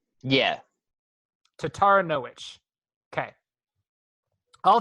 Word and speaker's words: Taranowicz: Taranowicz. Which, that's going to be which at the end, right? Wicz? Yeah. Taranowicz.